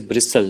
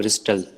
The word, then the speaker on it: bristle: pronounce these words yes it is bristle not bristol tea is silent now we have vocabulary